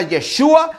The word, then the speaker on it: Yeshua: dios manifestado en carne que su nombre se pronuncia yeshua algunos están peleando no se pelean dice no